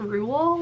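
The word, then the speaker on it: Roald: is um matilda by rule doll um which by the way did you guys know we were saying his name wrong this whole time i can't believe that i've always thought it was rolled and then i read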